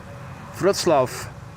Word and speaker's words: Wrocław: So the W is pronounced as a V and the C is pronounced as Ts. Wrocław.